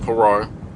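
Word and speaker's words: פרר: Okay, that word is pronounced parar.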